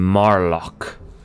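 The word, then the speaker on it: Marloch: now you know the seal and this name Mar lock which is spelt ma r l o CH since you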